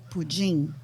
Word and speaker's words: pudim: teach you how to say the right name for flan because in Brazil you won't say flan, you will say pudim. Pujing. Pudim. Pudim. Pujing.